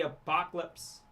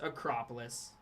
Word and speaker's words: Acropolis: Cooper flag there on the Apocalypse or not Apocalypse. Acropolis. Nobody corrected me. I was saying it wrong.